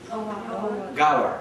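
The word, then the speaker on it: Ghawar: G-H. How do you pronounce it? Gawar.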